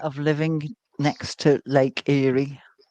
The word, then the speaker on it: Erie: based on the name, Eerie is is is the most amusing. Even though it's spelled differently, it's not spelled like Yuri, but it sounds like it.